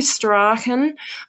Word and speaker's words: Strachan: Dorothy Strachan, that's how she pronounces it, has written a good book.